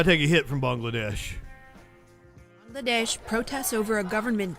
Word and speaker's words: Bangladesh: weekend of violent okay apparently I've been saying it wrong it's Bangladesh and not Bangladesh which Bangladesh [ __